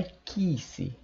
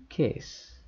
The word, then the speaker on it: kiss: som da letra i tá bom não é Kiss Não não é Kiss pronunciar como se fosse uma letra e qu mais uma vez Kiss muito bom a frase beija garota em inglês